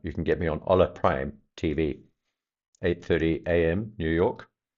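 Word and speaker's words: Hola Prime: Um, you can get me on Ola Prime TV. 8:30 a.m. New York. That's every weekday. That's H O L A prime. Ola prime. You don't pronounce the H in Spanish apparently.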